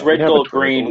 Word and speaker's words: RDGLDGRN: So it's red, gold, green with no vowels, is how you spell it.